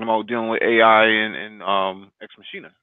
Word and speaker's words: Ex Machina: And I remember it's pronounced ex machina.